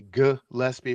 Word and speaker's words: Gillespie: Jeff, Queen, Gillespie, and Rice, and Johnny Holliday did say Gillespie, hard G.